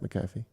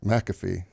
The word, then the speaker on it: McAfee: paper if you want is that how you pronounce that gentleman's name Pat Pat mcaffe oh I've been saying it wrong for a while what have you been saying McAfee but I only associate him with Monday Night